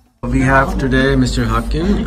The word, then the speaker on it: Håkan: Hawkin how do you say your name properly or come walking okay and I want to hear your